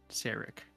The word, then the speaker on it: Serak: And Serak. Mhm. Okay. It's like Merrick.